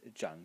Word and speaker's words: 长: or the semantic group when the character is pronounced Jang in the third tone is chief chief as a person